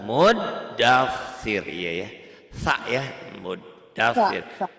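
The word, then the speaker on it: مدثر: Sa ya, muddatsir. Ada tasdidnya double tuh di situ. Tadi Ibu salahnya tasdidnya cuma dibaca satu, dibacanya dua.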